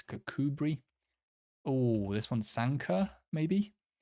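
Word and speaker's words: Kirkcudbright: Douglas D be yes cbri not bright it's cbri oh this one Sanka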